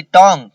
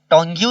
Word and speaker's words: tongue: TONGUE, टोंग, जुबान। टोंग पढ़ेंगे इसको, ठीक है। TONGUE, टोंग। टोंग्यू लिखा है लेकिन टोंग पढ़ेंगे।